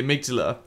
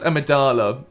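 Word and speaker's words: amygdala: and go to fight the amigdala which I used to pronounce amadala which this thing is definitely not a Star Wars character this boss fight again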